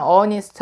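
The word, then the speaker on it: honest: 입니다 발음 사에 문제이기 때문에 얜 h 감 묵음 이기 때문에 얘는 업 a 무대 잔을 어니스트 r 되어 여기 너 따라서 얜 입었습니다 h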